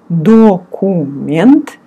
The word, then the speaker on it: документ: Again, it's written документ, and you pronounce документ.